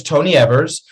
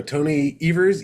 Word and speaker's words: Evers: or something yes so tony evers eevers rhymes with believers and tony evers you